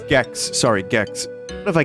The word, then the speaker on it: Gex: was gex oh wait it is gex but you know what that rhymes with Chex Mix which was a